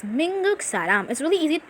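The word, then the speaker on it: 미국: told before the united states is pronounced as minguk for you to find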